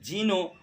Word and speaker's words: genu: سنسکرت میں جانو اور لاطینی میں اس کا تلفظ جینو اور سپیلنگ GENU، اور پھر اسی سے